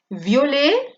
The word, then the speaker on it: violet: Aquí acaba en consonante, no se pronuncia.